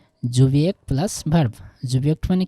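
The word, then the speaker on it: Subjekt: যদিও জার্মানির এইটার উচ্চারণ হবে হচ্ছে কি জুবিয়েক্ট প্লাস ভার্ব, জুবিয়েক্ট মানে কি সাবজেক্ট কি ইক, ঠিক আছে।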